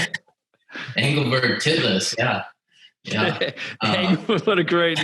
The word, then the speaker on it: Engelberg Titlis: Engelberg Titlis.